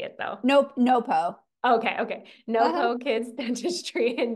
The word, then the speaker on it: NoPo: NoPo.